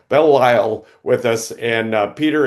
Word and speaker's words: Belle Isle: So today we have Peter Bell I Bell Bell I with with us. I said it wrong. Bell Lyle with us and Peter, it's great to have you.